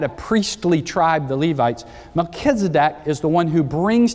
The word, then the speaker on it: Melchizedek: in the order of melchizedek now anybody in here your first name is melchizedek milk literally means king you can pronounce it skedak or kedak don't you like that one means righteousness so king of righteousness